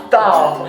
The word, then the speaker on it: tough: Tough. Kan itu kan bacanya kayak enough gitu kan enough. Yes. Ya gitu. Okay. Talk with tough gitu. Tough. Jadi ada FF-nya dikit gitu.